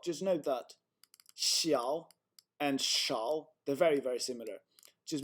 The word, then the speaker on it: 少: 多小, and this is 多小, and this is 多少, shao.